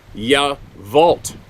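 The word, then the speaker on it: Yacolt: My folks and I went to Yavolt. Okay, here's another one. Now I'm going to sound like that crotchety old guy. It's spelled Y-A-C-O-L-T, but it's pronounced Yavolt.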